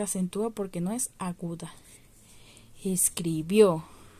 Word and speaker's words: escribió: porque no es aguda escribió escribió está en pretérito en pasado y en donde llevar asiento escribió al final y termina en vocal es una aguda que